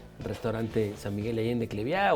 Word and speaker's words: Cleviá: Cleviá se escribe con Bechica y acento en la A.